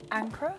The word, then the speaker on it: Ankara: And then of course we have Ankara. Yes. Did I say it properly? You said it An- correctly. Ankara.